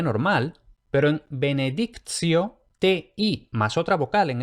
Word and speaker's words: benedictio: Ahora bien, cuando lo que tenemos es TI y otra vocal, entonces la T se pronuncia como ts. Entonces vemos que teníamos benedictus con T normal, pero en benedictio, TI más otra vocal,